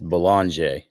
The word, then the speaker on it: Bollinger: Noah, is it Langer or Bollinger? We've been told 18 different ways to pronounce his last name. Can you help a broadcast crew out? It's Bollinger. Bollinger.